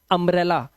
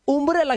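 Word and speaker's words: umbrella: Urgent, ultimate, इसे देखो इसलिए पढ़ते हैं अम्ब्रेला। लोग बोलते हैं ये सर उम्ब्रेला क्यों नहीं है, उम्ब्रेला नहीं है भाई, यू के बाद दो कॉन्सोनेंट है।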